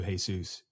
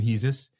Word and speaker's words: Hesus: I really always am going to call you Hesus for the rest of my life. I know that some people call you Hesus. Yes. You pronounce sometimes your own name Hesus.